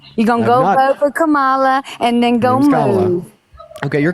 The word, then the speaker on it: Kamala: after you vote for Cala is that where you're going baby first of all name is Kamala then second of all